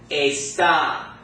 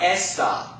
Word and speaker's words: está: So this word is going to be pronounced está, not esta.